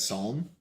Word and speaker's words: Psalm: How do you say that? Psalm. Psalm two.